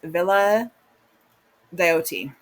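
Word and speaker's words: Villa Diodati: And then we have the summer of 1816 at Villa Deote. That's how you say it.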